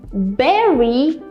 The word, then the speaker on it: berry: is very important because when you say Berry see how my lips move they kind of do this like I'm not biting anything I'm not biting my lower or my upper lip it's just I'm kind of like releasing air congrats Ira you have